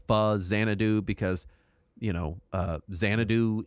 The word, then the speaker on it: Faxanadu: Saturn does have note on pronunciation it's technically pronounced fuz zanadu because you know uh zanadu is already an